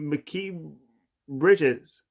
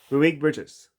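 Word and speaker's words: Mikal Bridges: OJ Anunoby and McKee Bridges. Why did I say that? Malik Bridge is. I said his name wrong. Malik Bridges.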